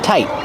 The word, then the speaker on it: tight: When I say tight, you have a T at the end, but you hear a stop T. So people say tight, tight. Not the same as tied.